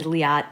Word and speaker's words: Liat: is Leah Tabata and Liat being an incredibly rare name is pronounced like the car the Fiat both inhale it's a